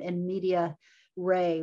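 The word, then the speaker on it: in medias res: students there's a term it's a latin term in media ray which is spelled like media then res is ray but it means starting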